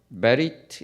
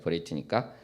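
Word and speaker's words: בְּרִית: 베리트니까 언약궤다 이렇게 할 수 있습니다. 언약궤가 아론 베리트 아도나이. 지금 이제 베리트라고 발음합니다만 이스라엘에서는. 그리고 또 이렇게 쭉 보면은 어떤 표현도 나오냐면 아론 아도나이.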